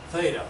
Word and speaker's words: theta: the actual polar co-elevation, theta, that rhymes with beta, is being done right here.